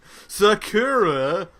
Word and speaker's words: Sakura: was cool it's a Sakura figure from cardcaptness Sakura is how it's supposed to be pronounced thank you thank you I tried I